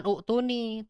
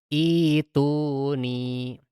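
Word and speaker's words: ائتوني: Nah, ketika ibtida di kata tersebut, maka bacanya bukan u'tuni, tetapi menjadi ituni. Diibdal si hamzahnya.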